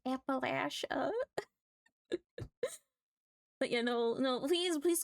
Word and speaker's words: Appalachia: I hear people pronounce it weirdly and I'm like, that's not how it's pronounced. It's Appalachia.